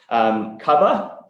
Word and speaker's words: Cuvva: Cuvva, not mispronounced here, C-U-V-V-A, is a very interesting new entrant in the UK motor insurance market.